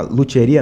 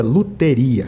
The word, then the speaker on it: luteria: Na verdade, assim, a luthieria, na verdade, o nome correto é luteria. Luteria.